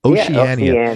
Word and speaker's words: Oceania: Oceania. It's like a small word, but it's got a bunch of syllables.